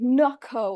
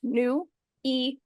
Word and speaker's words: Nuiko: pronounce my name correctly I always get NOCO or nio or NCO or whatever other Mis mispronunciations that ton can come up with it's new EO I really hope no